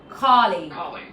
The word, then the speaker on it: colleague: So, M Webster confirms it colleague. Colleague, colleague and co stressed.